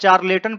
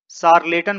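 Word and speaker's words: charlatan: यदि आप चार्लेटन पढ़ रहे हैं तो आप गलत हैं, इसे शार्लेटन पढ़ा जाता है।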